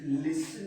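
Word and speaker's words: listen: तो यू है सब्जेक्ट, और सेकेंड पर्सन प्लूरल होने के कारण वर्ब, एंड लिसन भी होता है सुनना, तो लिसनिंग, यहाँ पे टी साइलेंट है, लिसन में, लिसनिंग में।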